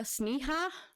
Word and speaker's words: Sneha: confirm how it was how her name is pronounced but it is spelled s-n-e-h-a so yeah sneha and Phillips was born